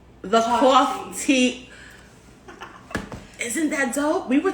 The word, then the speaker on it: Coff-Tea: things like real crazy coffee tea what's the proper pronunciation coffee cough tea tea like coffee like cheese tea so it's like coffee but it is tea and it looks it